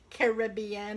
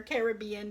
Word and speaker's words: Caribbean: - Pirates of the Caribbean or Caribbean depending upon how you pronounce it which is also